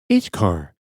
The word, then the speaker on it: ichor: Now we're going to have to do a pronunciation. Ichkar. The fluid that flows like blood in the veins of the gods. Whoa. Wow. All right. Icor.